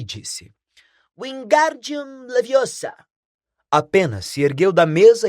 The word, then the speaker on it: Wingardium Leviosa: como Paz de Moinho você está dizendo feitiço errado Harry ouviu hermion corrigir aborrecida é Wi Gum leviosa o Gar bem pronunciado e longo diz você que é